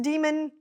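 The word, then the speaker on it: Daemon: Daniel Suarez's Damon series now realized that this might be pronounced demon but it's spelled Damon so I'm going to say Damon this duology consists of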